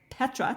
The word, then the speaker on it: Petra: You were invited by His Majesty King Abdullah II of Jordan to facilitate a brainstorming session of Nobel Laureates at the Petra, did I pronounce that properly?